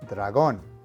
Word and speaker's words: dragón: Finally, you can see that dragón is spelled exactly the same as it is in English. However, the emphasis of pronunciation is on the last syllable, dragón.